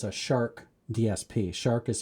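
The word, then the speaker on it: SHARC: has a modern uh DSP so it's a shark DSP shark is spelled s h a r c and they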